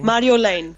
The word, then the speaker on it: Marjolein: for the Dutch on so I just say Lane like l a n e Lane Mario Lane Mario Lane yeah that's perfect you say I don't